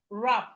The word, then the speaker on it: wrap: So wrap, the W is silent.